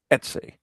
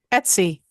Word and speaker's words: Etsy: Anyways, and also our good friend, Leslie Martin's Positively Brilliant Reiki-infused candles on Etsy. Did I get that right? Etsy.